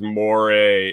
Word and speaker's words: moray: Backwards Butcher says moray is the right way to say it.